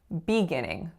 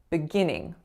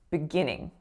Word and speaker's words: beginning: were the three words the first one was when I said beginning beginning so how I'm reading it now I'm stressing the fur syllable but actually we would stress the second syllable and say beginning beginning the next word I